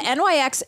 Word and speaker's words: Nyx: it it's called the Nyx duck plump you you pronounce it NYX I just realized that